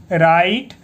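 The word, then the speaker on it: write: Question 1, राइट, यहाँ पे W silent है, राइट ए पी से प, paragraph, paragraph on Mahatma, Mahatma, Mahatma Gandhi, Gandhi, Gandhi.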